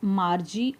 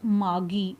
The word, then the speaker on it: Margie: One is Margie or Margie. Both the pronunciations are acceptable.